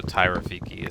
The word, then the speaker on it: Tyraphyki: And so our family name starts with a PH, but pronounced as if you would F as in Frank.